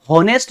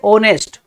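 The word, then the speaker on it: honest: लेकिन हम होनेस्ट नहीं कहते कभी भी, क्या बोलते हैं, ओनेस्ट, ओनेस्ट, यहां पर एच जो है वो साइलेंट रहता है, ओनेस्ट बोलते हैं।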